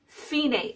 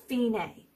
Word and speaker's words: Fine: you see the word finae it looks like the word fine but it's pronounced finae so that's where you